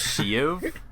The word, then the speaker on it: Shiv: The emperor and his name is Shiv. Yeah, Palpatine. They say his name is So his name is Shiv. That's what you're telling me. It's not she. It's shiv.